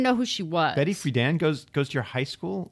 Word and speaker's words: Friedan: Is that how you pronounce it, Friedan? Yeah. I thought it was Frieden for no, some reason.